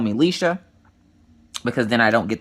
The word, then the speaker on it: Lisha: My real name is actually Alishia, but I tell people to call me Lisha, so please don't try to say, just say Lisha, L-I-S-H-A.